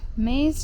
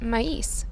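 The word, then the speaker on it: maíz: atole elote is a grilled Mexican street corn maze drink actually it's pronounced mais not Maze and it also adds some guyaba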